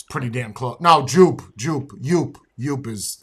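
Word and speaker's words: JOOP!: pretty damn close no Joop Joop you is it's cheap you get that at CVS for 15 bucks wait it's pronounced you all these years because it's French the J is silent it's you everybody calls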